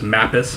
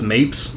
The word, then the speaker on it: Mappis: That's how you pronounce his last name, is Mappis. I thought it was Mapes, but it's not.